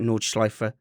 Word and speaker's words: Nordschleife: knowledge life specialist is how you say it nordschleifer specialist a two-time vln series class champion and